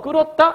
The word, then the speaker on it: 끓었다: 자, 이번엔 넘어가서 이제 오른쪽에 약간 날개 보시면 국이 끓었다 해서 끓었다? 이것도 히읗 탈락이 들어있다고 얘기하는 거야. 왜지? 보시면 끓었다 발음은 어떻게 돼요? 끓었다 이렇게 발음되는 거거든.